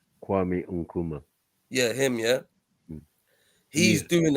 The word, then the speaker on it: Kwame Nkrumah: And basically, how do you pronounce his name? Kwame Nkrumah.